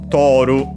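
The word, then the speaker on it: トオル: In Japanese it's To O. By the way, notice with an actual O instead of the usual U. And last but not least, Ru. Toru.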